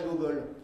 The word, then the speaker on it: Gogol: intéressant, c'est l'écrivain Nicolas Gogol. Là, je le prononce à la russe, il a écrit essentiellement en russe.